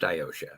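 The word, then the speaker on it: Iotia: captain it is pronounced iosha it's kind of like ocean but iosha ayosha yes ma'am what am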